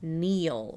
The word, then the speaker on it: kneel: Kneel, which is actually spelled with a K because that's silent.